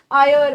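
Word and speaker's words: heir: Number 2, एन को बेटा जो भी वर्ड एच के साथ स्टार्ट होते हैं लेकिन उनमें एच प्रोनाउंस नहीं होता, उनके साथ एन लगता है, जैसे ऑनेस्ट मैन, आयर।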